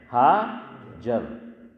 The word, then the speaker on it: ہاجر: لیکن حضرت فرماتے تھے کہ صحیح تلفظ جو روایت میں حضور نے ارشاد فرمایا اس میں آخر میں ہا نہیں ہے.